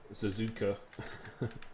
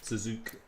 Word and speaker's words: Suzuka: There's a lot of very fast people in here, but yeah, the way to pronounce his name, he told me, is just to say Suzuka. Suzuka.